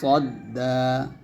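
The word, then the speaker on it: تصدى: তা আমমা মানিসতা তালাহুতা সদা এখানে পড়তে হবে তো আমরা অনেকে সদ উচ্চারণটা মত করে ফেলি তা সাদ্দা বলে ফেলি তো এরকম উচ্চারণ যেন না হয় সটা মোটা করে বলবেন সদা এখানে কি হবে এখানে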